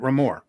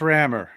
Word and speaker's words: Rammer: Am I pronouncing that right, or is it Ramor? Well, it's Rammer.